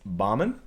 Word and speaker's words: Bahman: For most people who don't know how to pronounce my name correctly, coach is best. It's Bahman.